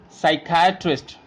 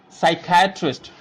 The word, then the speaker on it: psychiatrist: pronounce these words so I will show you how to pronounce this word where the P is silent and it is very